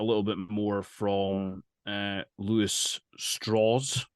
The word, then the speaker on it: Strauss: And in those segments, you get a little bit more from Louis Strauss. Like the name is spelled Strauss, but he points out it's a southern pronunciation. Louis Strauss, played by Robert Downey Jr.